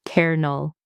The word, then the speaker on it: colonel: It looks like it should be kol-oh-nel, but it's actually pronounced kernel, like a popcorn kernel.